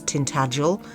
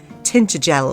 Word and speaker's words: Tintagel: the moment is the way he pronounces Tintagel. I don't know why nobody told him how to pronounce his own home properly, but uh yeah, I think he says tintter gel or something awful like that, but the Cornish people are up in arms.